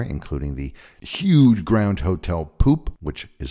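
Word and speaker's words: Pupp: The 2006 James Bond reboot Casino Royale was mainly filmed here, including the huge Grand Hotel Poop, which is spelled P-U-P-P, and also in the super pretty nearby town of Loket, which means elbow.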